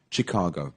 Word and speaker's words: Chicago: Asian you would think Chicago yeah Chicago but yeah it's like um chef chef is also c-h-e-f yeah and this is c-h-i-c-a-gi Chicago so it's spelled CH but it's pronounced s h yeah really this always